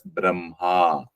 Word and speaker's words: Brahma: the middle so Brahma but it is pronounced as Braha so as per The